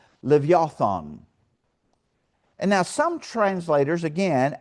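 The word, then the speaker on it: לִוְיָתָן: And it's transliterated from the Hebrew word that's pronounced levothon.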